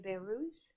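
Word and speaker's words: Behrouz: I'll let you pronounce your name and if you could spell it also for the benefits of um committee members. It's Beerus and it's B A H A R E H B E H R O U Z.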